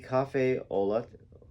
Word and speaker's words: café au lait: coffee shops in the French market, serving only café au lait. I don't know how to say this. Café au lait. I'll spell it so y'all know what it says.